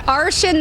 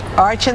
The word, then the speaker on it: Arshan: It rhymes with Martian, right? I have to tell you, so that's what I've been telling everyone. I was teased when I was little, but Arshan the Martian is the best way to remember.